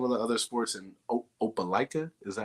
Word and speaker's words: Opelika: What were some of the other sports in Opelika?